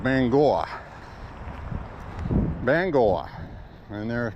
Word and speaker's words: Bangor: through in an RV and she kept saying Bangor, Bangor, Maine, Bangor, Maine. So of course I had to correct her. I said it was pronounced Bangor, which it is. I know it's B-A-N-G-O-R, but it's pronounced Bangor.